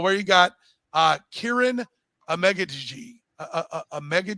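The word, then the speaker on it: Amegadjie: I said Mel where you got uh Kieran a mega g a megga g uh going and he by the way he pronounced it a lot better uh k i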